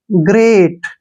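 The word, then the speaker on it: great: तैयार नेक्स्ट देखिए जी जी का उच्चारण ग करते हैं ठीक है ना क्योंकि जब भी जी के बाद कोई भी कंसोनेंट आता है जी को ग पढ़ते हैं आर का उच्चारण र करेंगे ई ए का उच्चारण देखिए यहां पर क्या हो रहा है ए मैंने आपको बताया है ए होगा और टी को ट ग्रेट ग्रेट ग्रेट क्या होता है महान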